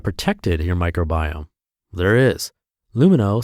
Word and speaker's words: Lumineux: That's why their name is pronounced Lumino, because it has no